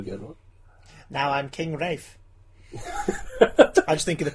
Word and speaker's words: Ralph: Rafe Fiennes. Oh, say Rafe. it how it's Say it how it's spelt. Say it how Ralph.